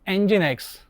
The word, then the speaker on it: Nginx: It is popular open source web server, pronounced Nginx, is renowned for its excellent speed and little resource use.